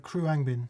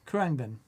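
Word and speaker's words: Khruangbin: and they're just wonderful how would you pronounce that uh kruangbin kurangben yeah as opposed to recycling bin which i need to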